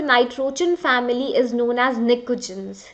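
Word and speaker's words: pnictogens: Group 15 element, the nitrogen family is known as nicogens. The spelling may N and T, P and T is silent.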